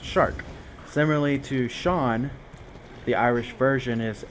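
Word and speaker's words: Seán: Similarly to Shawn, the Irish version is s e a n s the s e makes the sh sound.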